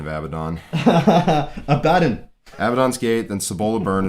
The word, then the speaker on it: Abaddon: was latham weeks then caliban's war then yeah avadon yeah your weird pronunciation of abaddon abaddon avedon's gate then sabola byrne is my favorite